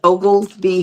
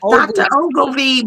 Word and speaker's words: Oglesby: It's Oglesby. Ogsby B. Obby B. Like Ogleby, but it's Oglesby.